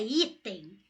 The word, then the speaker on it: item: A palavra item eu divido. I, tem. Sílaba tônica é I, então ela é paroxítona.